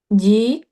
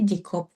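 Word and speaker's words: 직업: Jig. Heeh. Ee jig jig op. Jig. Aneh enggak bacanya? Aneh. Aneh. Kalau hin itu kan harusnya ikut ke sini kan. Hm. Jadi bacanya jikob.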